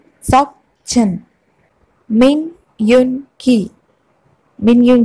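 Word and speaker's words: 민윤기: കിം നം Joon, Kim നം Joon, Kim നം Joon, Kim Sok chin, Kim Sok chin, Kim Sok chin, മിൻ യുൻ കി, മിൻ യുൻ കി, മിൻ യുൻ കി, ചങ് ഹോ സോക്, ചങ് ഹോ സോക്, Chung Ho Sok.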